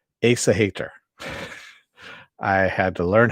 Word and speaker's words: Aesahaettr: of today's dark materials season 2 episode 7 ace a hater i had to learn how to pronounce that because they only say it once